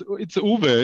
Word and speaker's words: Uwe: It's Uwe.